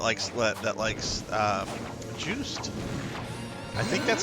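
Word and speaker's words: Juste: Is it juice day? Do you pronounce the e? Do you not? Uh is it French? If it's French, you should probably pronounce the e. If not, it's probably silent, but it's pronounced juiced.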